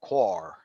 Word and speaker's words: coir: So generally coir improves airspace. Now, in the south we would pronounce it coooir, I think it's coconut coir.